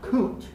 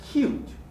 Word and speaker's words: cute: with the glide right this is not coot but cute with a yup cute this is not foom